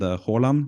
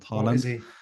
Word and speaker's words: Haaland: There's a pretty good one named Haaland, not Haaland.